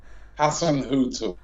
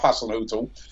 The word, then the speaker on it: Hasenhüttl: Pronounce it first. Hasenhüttl. Yeah, right. Ralph Hasenhüttl.